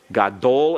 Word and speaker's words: gadol: For example, if we have the adjective gadol, gadol is accented on the last syllable.